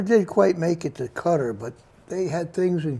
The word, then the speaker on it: Qatar: here in this case rival to us yep cutter by the way is spelled q-a-t-a-r q-a-t-a-r yeah i just wanted to mention that because a lot of people call it qatar and if you say cutter they don't know what you're talking about which